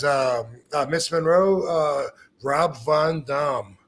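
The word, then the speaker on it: Rob Van Dam: my word for that and the question was have we've been saying it wrong all this time actually the real answer to that yes seriously the name that I was given was Rob Von Dum what y believe it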